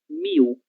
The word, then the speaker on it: mil: Em português, leitura correta será miu.